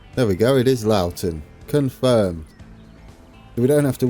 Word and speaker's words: Loughton: There we go, it is Loughton.